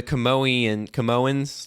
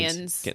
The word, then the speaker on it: Kaminoans: like the Camoans. I know I'm saying the name wrong. Kaminoans. Yes, there you go.